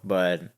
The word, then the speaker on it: bière: a pel logger will be opening right now can't wait oh this is actually you said it wrong it's actually B I took Spanish in